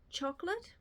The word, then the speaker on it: Chocolat: Harris now I've read chocolate or Chocolat I think you meant to say it like and um blackberry wine